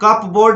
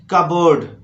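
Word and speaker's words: cupboard: इसके बाद यहाँ कप बोर्ड बिल्कुल मत बोलिए, बोलिए कबोर्ड, कब बोर्ड, कबोर्ड।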